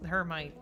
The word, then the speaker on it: Hermite: It's Charles Hermite. That's the American pronunciation. Butchering the French.